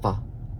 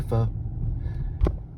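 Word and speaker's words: phở: It's actually pronounced Pho, but people say Pho.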